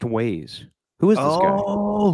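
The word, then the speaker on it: güey: I don't know uh according to Urban Dictionary um it's pronounced ways who is this guy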